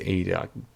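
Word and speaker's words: Idah: And his name isn't Ida, it's Ida. I keep forgetting because I'm so used to pronouncing it wrong, because that's what I thought.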